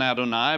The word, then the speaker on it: Adonai: used the word uh adonai which it's spoken out on eye but it's yhvh it's